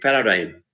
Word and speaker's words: paradigm: words like hypny or g silent in paradigm h in r or